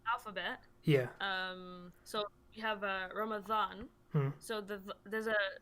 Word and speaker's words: Ramadan: so we have Ramadan. So there's a letter in the alphabet like a dha. Oh, You pronounce okay.